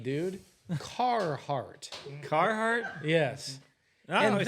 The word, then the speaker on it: Carhartt: Carhartts? Yeah, the full body. Carhartt. There's no What'd I D say? There's no involved. D, dude. Carhartt.